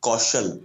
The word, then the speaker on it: Kaushal: Vicky Kaushal. Kaushal, okay. Kaushal.